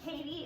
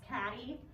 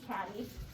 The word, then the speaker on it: Cady: You hear Katie, it's actually pronounced Caddy.